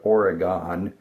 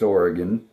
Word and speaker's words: Oregon: You can always tell somebody who doesn't know how Westerners pronounce things, they talk about Oregon when it's Oregon and they talk about Nevada when it's Nevada.